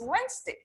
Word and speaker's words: Wednesday: week say monday wednesday it's not called wednesday okay it's wednesday so you write bed ness and day but how do we pronounce it wednesday say with me wednesday